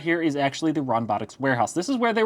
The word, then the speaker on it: Ronbotics: details into this company, Ronbotics. Yes, I've been saying it wrong this entire time. Somebody pointed out to me that there's an N in there.